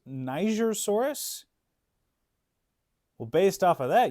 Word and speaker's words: Nigersaurus: So, yes, Nigersaurus was both discovered and named, I think named.